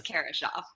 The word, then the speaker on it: Kara Schaaf: with a low expectations my name correctly is Karen Shaw I'm not worried about it so German so